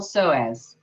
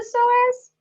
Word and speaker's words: psoas: Have you heard of the PSOAS? Let alone, do you know how to spell it? It's kind of like the word possum, which is O-P-O-S-S-U-M.